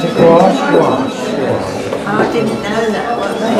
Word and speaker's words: gouache: Just ask you about, how do you pronounce it? Gouache? Gouache, yes.